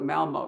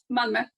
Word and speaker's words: Malmö: And said, I won't try this one either, but I'll call it Malmo. You tell us how you really pronounce it. Malmö.